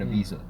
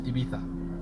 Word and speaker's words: Ibiza: Like, there's a lot of Americans want to try and pronounce like European cities or Barcelona's the worst one, and Ibiza, because it's like in English.